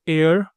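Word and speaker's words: heir: सी is blank एयर apparent to the throne. So एयर में S silent है। ई से sound आता है।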